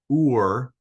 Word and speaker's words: Ur: of important places on the map one is ur uh this city uh it's spelled you are so down here by the